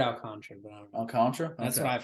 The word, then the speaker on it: Alcantara: your rankings yeah um my number eight it's gonna be all Contra Alcantara comment down below how you pronounce it I heard out contrary that's what the Mets announcers say but like don't you